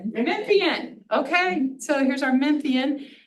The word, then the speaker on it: Memphian: well, as well as a local Memphisite, if that's the right way to say it. So, Memphian. Memphian.